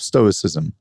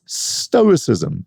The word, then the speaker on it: Stoicism: It's Stoicism, and its followers are Stoics, not Stoicism and Stoics.